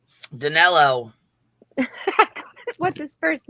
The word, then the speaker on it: Danelo: Danilo.